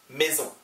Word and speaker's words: maison: maison e 붙어 있고 o n 붙어 있고 s 발음 모음 s 모음 z maison.